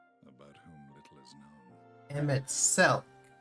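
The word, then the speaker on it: Emet-Selch: Emmet Selk is how you pronounce it.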